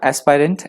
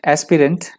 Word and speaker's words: aspirant: एस्पिरेशन माफ कीजिएगा एस्पायरेंट। एस्पिरेंट एस्पिरेंट यहाँ पे नाउन की तरह यूज हुआ है। एस्पिरेंट भी बोल सकते हैं आप, एस्पायरेंट भी बोल सकते हैं। एस्पिरेंट है वैसे, एस्पिरेंट प्रोनाउंस किया जाएगा एस्पिरेंट।